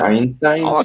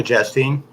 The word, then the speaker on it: Chastain: Jessica I'll Scheinstein?